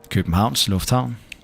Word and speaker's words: Københavns Lufthavn: Københavns Lufthavn.